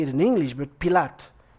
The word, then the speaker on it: Pilate: it in english but pilate pilate is it pilot yes he avoids precisely he's not asking the the pilots type of question when jesus is on trial and he says and pilate asked him okay what